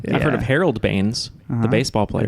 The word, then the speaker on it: Baines: It's Aaron Baines, the center Bainesy. for the Phoenix Suns. Honestly, I've never heard of him. I've heard Yeah. of Harold Baines, Uh-huh.